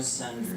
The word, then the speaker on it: Sundry: Sundry. Spell it. like the fish. You found me. Last name, sun and dry. Like the drought.